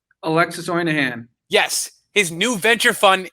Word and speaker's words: Alexis Ohanian: Alexis Ohanian.